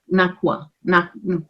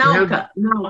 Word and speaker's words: Nauka: are repairing now is the Japanese module, the Nakwa. How you pronounce it? The Sveta is the one you're talking about. That is the other module. What I'm referring to is. And Nauka, the name of the new module.